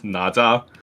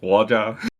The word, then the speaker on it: Nezha: If you speak Cantonese, it's Naja. it? Uh-huh. If you speak Mandarin, it's like Waja.